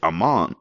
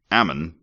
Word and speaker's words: Ammon: that drink mhm that Aman oh I'm sorry I keep saying it wrong Ammon I will get that